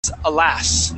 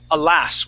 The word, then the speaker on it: alas: the word is alas can you repat yeah the word is alas with the accent at the end alas alas good good